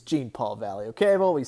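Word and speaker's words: Jean-Paul Valley: it right this time john paul valley it's gene paul valley okay i've always said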